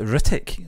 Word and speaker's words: Hrithik: I always think H's are silent. Yeah. I just can't say I think you're bang on. It's Hrithik. Like Hristo Stoichkov.